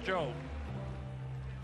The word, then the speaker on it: Tso: 40-36 after 4 for Rex Cho. Cho spelled T-S-O. T-S in Chinese, they tell me is pronounced Ch.